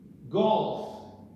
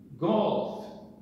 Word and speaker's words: golf: There's a difference in pronunciation here, in English and in Portuguese. In English, golf, golf.